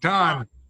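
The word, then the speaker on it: τὸν: Oh, you said tone again. Yeah, Like, Tahn.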